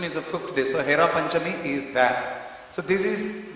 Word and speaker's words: Hera Panchami: Sometimes some people, Prabhupada says, they misspell it as Hara Panchami. It is not. It is Hera, Hernayane, Heribo, Ashada, Jugalaruparashi. Hera means to see. Panchami is the 5th day. So Hera Panchami is that.